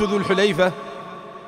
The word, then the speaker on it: ذو الحليفة: منه منه الجواب ميقات ذو الحليفه وتنطق هكذا بضم الحاء وفتح اللام هو ميقات الاحرام لاهل